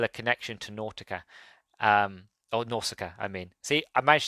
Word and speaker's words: Nausicaa: I do apologize again, but it's Nausicaa. Beautiful name. I just wish I could pronounce it properly.